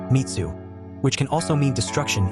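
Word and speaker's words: 滅: swordsman the blade has the character for slay pronounced mitsu which can also mean destruction in Japanese Hagan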